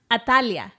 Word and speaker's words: Atalaya: you are and then in Hebrew so it's atalaya it's uh pronounced atalia oh okay and uh she was actually the